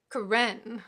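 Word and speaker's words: Karen: hinga kitchen in parentheses these last pronounce with the accent on the second syllable it seemed to him ro hanga kichan Carentan we get several more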